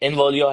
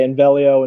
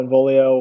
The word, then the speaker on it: Involio: Like when you first tell someone Involio, sometimes it's a little bit hard for them to then pronounce. Like we'll have people say Invelio, Involio, whatever it may be.